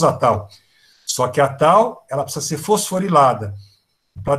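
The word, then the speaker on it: tau: Tal se escreve T-A-U, tal. Tal.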